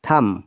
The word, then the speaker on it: thumb: no it is plumber i remember that when b is before m once again b is always silent this is one of the greatest phonetics rules for pronouncing it correctly then thumb not thumb then tom